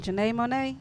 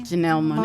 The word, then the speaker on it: Janelle Monáe: I might say her name wrong. Janae Monet? Janae? Janelle Monáe.